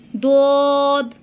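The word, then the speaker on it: ض: দোদ। আপনার জিহ্বার গোড়ার কিনারাটা, মানে জিহ্বার গোড়ার কিনারের সাইডটা উপরের মাড়ির দাঁতের গোড়ার সঙ্গে লাগিয়ে এই দোদটা উচ্চারণ হবে।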